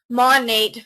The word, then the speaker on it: MONAT: Um, when we talk about this company, who we are, who is Monate, and it's pronounced Monate from the two words modern and nature.